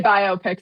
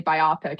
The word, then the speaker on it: biopic: Biopic is the preferred pronunciation.